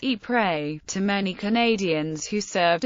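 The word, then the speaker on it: Ieper: As a note on pronunciation, while the people of Flanders pronounce this name as E prey to many Canadians who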